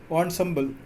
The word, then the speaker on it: ensemble: नौबत जैसे शेनाई को ही कहता है, तो और ट्रेडिशनल ENSEMBLE का प्रोनाउंसिएशन अलग बुक में दे रखा है। ऑनसम्बल इंस्ट्रूमेंट को कहते हैं ऑनसम्बल ऑफ 9 instrument found at royal court.